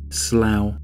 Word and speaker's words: slough: So Donny, slough. It's spelled S-L-O-U-G-H.